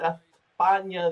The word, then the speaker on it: España: We know what España, that's how they say it around there.